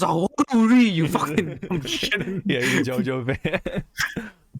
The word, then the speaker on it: ZawarudoWrrryy: It's pronounced ZawarudoWrrryy, you fucking shit.